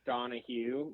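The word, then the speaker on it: Donohue: on my mom's side it's donah Hugh but it's spelled D o n o hu e so that's that's out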